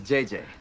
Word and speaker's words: JJJ: and this is JJ. It's actually JJJ, but the third J is silent.